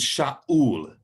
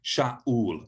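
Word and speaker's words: שאול: you pronounce it so the name for saul in the old testament is sha ul do you hear the way that i stopped like um the glock will stop stopping the air coming out sha ul have a girl pronouncing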